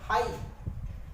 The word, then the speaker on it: high: Example है हाई, HIGH, शब्द के अंत में GH आया तो क्या पढ़ते हैं, हाई।